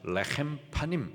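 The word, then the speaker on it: לחם פנים: 히브리식 발음으로 말하면은 레헴 파님이라고 해요. 레헴 하면은 떡, 파님 하면은 얼굴이란 뜻입니다. 그래서 레헴 파님 하면은 얼굴의 떡.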